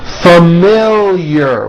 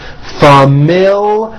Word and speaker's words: familiar: Familiar with a strong L, and there's also a hidden Y after the L. Familiar.